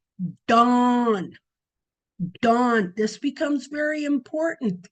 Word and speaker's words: Dan: It actually was pronounced dawn.